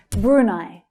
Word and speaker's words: Brunei: Brunei, Brunei. So the first syllable has a longer sound, but it's the second syllable that's stressed.